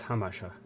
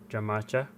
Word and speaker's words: Jamacha: jamaacha bolovert you you starts with j so let's pronounce hamasha in spanish j has the sound of h there you go that's the one jamacha boulevard so i'm gonna